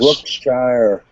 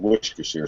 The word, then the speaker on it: Worcestershire: Well, so they would actually pronounce it Worcestershire, I guess, because shires is what they call regions in England, shires. Yeah. So the original, I guess you'd say the correct pronunciation is shire, Worcestershire.